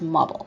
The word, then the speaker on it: mobile: with the word mobile which has the stress sound at the beginning nice bomb aside it is mobile and the stress is